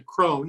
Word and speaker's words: Kron: know got you really kick-started in the lisa krone am i pronouncing your last name right yeah exactly yeah